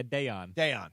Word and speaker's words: Daiyan: BC, do you know how to pronounce it? Yeah, Dayon.